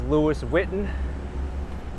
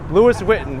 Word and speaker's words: Louis Vuitton: Here's Louis Vuitton, otherwise known properly as Louis Vuitton.